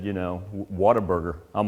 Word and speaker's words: Whataburger: he said you know whataburger i'm like yeah now we might go eight hours what a burger that that's clearly not from texas you don't say what a burger it's whataburger whataburger i'm sorry i